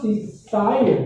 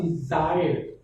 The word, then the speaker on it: desire: And you pronounce desire, but actually it should be pronounced desire.